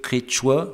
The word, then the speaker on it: quechua: tempérée, vallée andine tempérée, est prononcé quechua, c'est-à-dire avec une première voyelle qui est quelque chose à mi-chemin entre notre E et notre I, disons, pour simplifier, est interprété par les hispanophones comme un E, et donc ce terme comme quechua.